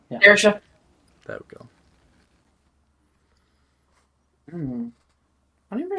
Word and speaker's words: Saoirse: Let's see if I can pronounce her name properly. Sasha. Saoirse. Yeah. Saoirse.